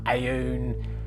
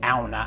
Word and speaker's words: Aune: the alna SC1 clock you can pronounce it Anna aun Al however you want to I was actually told that you do pronounce it Anna as in a Nordic pronunciation but I've been using